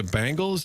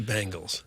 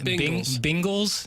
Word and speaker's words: Bengals: Bingles. No one says Bingles. There's not a soul out there that says Bingles.